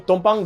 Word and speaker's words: tumpang: But he says it's actually TUM. Tumpang. Yeah, it's not Tam lah.